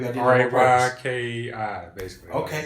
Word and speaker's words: Reiki: Ryki, basically.